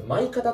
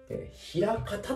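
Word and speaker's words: 枚方: あって、これ前方って読んじゃダメですよ。枚方って読むんですよ。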